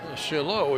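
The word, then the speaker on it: Chaillaux: Yes, Shalo, if you're interested, is spelled C H A I L L A UX. That is Franch.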